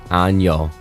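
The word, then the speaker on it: año: It's the same word, but a little with a tilde above it.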